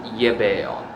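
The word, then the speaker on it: gebeon: When it comes to a past participle, you can just attach ge, so it's pronounced ye. So yebeon.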